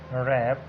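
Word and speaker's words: wrap: इन examples पे गौर करें तो W के बाद जब R आता है W साइलेंट हो जाता है, या W के बाद अगर कोई H आ जाता है तो भी W साइलेंट होता है।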